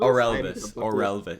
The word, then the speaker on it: Orelvis: Orelvis. It's like Elvis, but with an Orel before it.